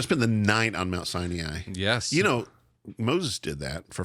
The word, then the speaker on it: Sinai: We're hiking up in the day, and we're going to spend the night on Mount Sinai or Mount Sinai. I would pronounce it Sinai, but you are Southern Indiana, so anyway, which means we can talk any way we want to.